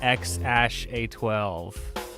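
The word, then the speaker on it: X Æ A-12: Pronounces the name X ash A12 and Grimes refers to it as X AI.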